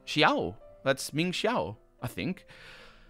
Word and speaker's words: Xiao: I have now also realized that they don't pronounce the name Xiao properly. They say Zhao.